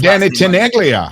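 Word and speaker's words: Danny Tenaglia: Danny, I always say his Danny Teneglia. Danny Teneglia.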